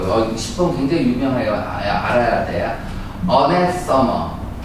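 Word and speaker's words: anathema: 어네서머 라고 하죠. 원래 맞으면 어네서머인데 뭐 발음 시험 문제 아나운서다.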